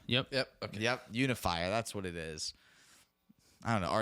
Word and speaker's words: Unifier: All right, so the next one here is Atraxa Grand Unificer. It has to be how that's Unifier. pronounced. Yep. Yep. Okay. Yep, Unifier.